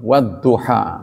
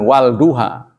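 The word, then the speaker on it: والضحى: Dot juga begitu, Wadduha, bukan Wal Duha.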